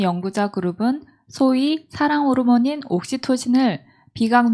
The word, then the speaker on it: 옥시토신: 옥시토신. 지난번 우리 어떤 집사님은 옥신각신이라고 그러더라고요. 아니, 옥시토신인데 왜 발음을 저렇게 할까?